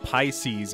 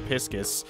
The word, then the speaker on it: Pisces: you guys told me he's pronounced Pisces action instead of piscis I knew who that